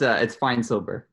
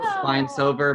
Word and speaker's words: Feinsilber: It's Feinsilber. So Feinsilber, but replace the V with the B.